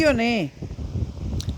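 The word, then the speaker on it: Lyonnais: francés que Todavía existe muy famoso el Credit lionés Credit lon Credit y Bueno lon pero se escribe l i n n a y s bueno búsquenlo en internet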